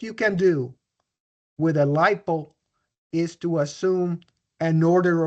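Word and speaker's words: LIPL: People just pronounce that lipo.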